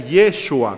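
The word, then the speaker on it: ישוע: jesús el nombre de jesús en hebreo se pronuncia y yeshua con iu y eso así lo pronuncia los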